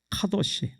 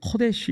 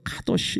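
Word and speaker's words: קדוש: 카도시. 발음을 코데시 이렇게도 발음하는데 주로 카도시 이렇게 발음합니다.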